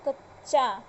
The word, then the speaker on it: कच्चा: का उच्चारण करेंगे, यानी फर्स्ट में आधा च और लास्ट वाला पूरा च, तो चच। अब इससे शब्द क्या बनेगा, कच्चा।